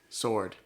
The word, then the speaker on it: sword: that's a sword yeah how do you say sword why is the w there i don't know english